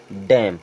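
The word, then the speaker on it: damn: means होता है स्तंभ डी ए एम एन इसे पढ़ेंगे डैम क्योंकि एन हो जाएगा साइलेंट अब ध्यान रखें जो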